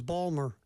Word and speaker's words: Baltimore: Georgia when you're oh sure like Baltimore was Balmer yeah b a l w r Balmer yeah